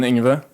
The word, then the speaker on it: Ingve: Yeah, so I would pronounce my name John Ingve. Okay. But I mean, I get so many variants.